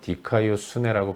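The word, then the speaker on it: δικαιοσύνη: 헬라어로 디카이오 수네라고 발음하는 단어인데 이것은 마땅히 있어야 할 자리에 있는 것입니다.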